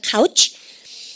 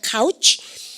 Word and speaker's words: couch: 발음 갖다 보시면 couch. 그죠? 알겠습니까? 아니요, 카우치란 말 쓰고요. 아우 발음이니까 조심하시고 발음을 갖다 보시면 카우치. 그죠?